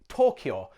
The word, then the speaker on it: Tokyo: It's the same deal with Tokyo, or should I say Tokyo, which in Japanese is 2 syllables, not 3.